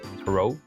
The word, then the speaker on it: tarot: Um, and she was, I think, reading tarot cards to tarot tarot cards. That's how you say it to to fill in.